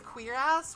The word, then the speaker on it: cuirass: Actually, I think the proper pronunciation is queer-ass, which is really weird.